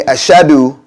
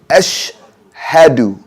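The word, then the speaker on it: أشهد: So saying ashadu is wrong. We should say ashhadu. Ashhadu. So we've separated. Ashhadu instead of ashadu.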